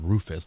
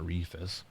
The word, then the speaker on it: Rufus: It's called Rufus, not Reefus.